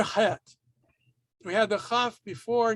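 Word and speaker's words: ח: All right, now het is, if you get a good Arabic influence pronunciation, going back to the origin of the sound of the letter, it's really deep in the back of your throat.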